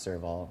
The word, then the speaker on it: serval: with long necks yeah I think it's pronounced serve all like s er v al they're beautiful oh no